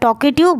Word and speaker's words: talkative: चलिए टाइटल देखते हैं tokative बार्बर टॉकिंग की मीनिंग है यहां पे देखिए बहुत ज्यादा बात करने वाला बहुत ज्यादा बात हुई और ताकि में जो एल है वो साइलेंट है इसलिए आप इसे क्या